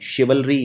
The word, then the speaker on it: chivalry: ये शब्द थोड़ा सा मुश्किल है प्रोनाउंस करना, इसको लिखते ऐसे हैं, CHIVALRY, शिवलरी यानी बहादुरी।